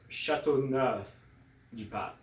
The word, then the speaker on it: Châteauneuf-du-Pape: It's got a cool name, but sometimes people just have a hard time pronouncing. So it's Châteauneuf-du-Pape.